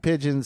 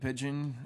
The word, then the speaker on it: Pidgeon: Yeah, you can just find me, Pidgeon. I think I'm the only one holding a guitar, if you're looking for me. Just search for my name. Pidgeon is spelled P-I-D-G-E-O-N, contrary to the bird's spelling.